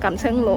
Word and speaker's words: Kam Sheung Road: Today, Pang came to visit the pineapple plantation I got off at kam sheung road station English name. The local people pronounce it kam sheun ro .